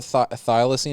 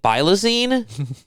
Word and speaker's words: thylacine: uh uh Forest galante thing bringing the whole thylacine is how you say it yeah after just